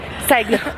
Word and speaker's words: Cyglo: Salimos de Saiglo, ¿cómo lo pronunciaste? Saiglo.